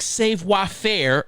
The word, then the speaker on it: savoir-faire: now and go to an artistic savoir-faire event, that's how it's pronounced, you ignorant people that don't know, is I came up with a little French name for this event.